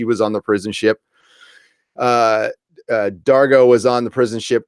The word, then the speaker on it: Dargo: her saan saan and Dargan have a little talk dargah Dargan or Dargo Dargo sorry about Dargo why did I put in at the end there and it's yeah it's spelled like dr go they have a little